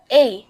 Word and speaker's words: A: এ বা আমরা দৈনন্দিন জীবনে এটাকে এ বলে থাকি, কিন্তু এটা হবে না, এটা হবে আই বা এই।